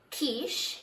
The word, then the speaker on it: quiche: be trying something different i called it a ketchup but my mom told me the correct way to say it which was quiche some of you got an